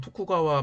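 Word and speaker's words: 徳川: 이 도장은 일본 덕천막부, 일본어 발음은 토쿠가와 막부 시절에 발견이 되었는데, 일본 학자들은 그 당시의 분위기가 국수주의적이었고 일본이 최고다라고 하는 의식이 있었기 때문에 가짜라고 치부하기도 했다라고 합니다.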